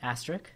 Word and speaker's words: asterisk: Asterisk?